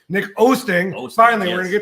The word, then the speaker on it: Oosting: Oh, I keep mispronouncing your damn name. Nick Oosting.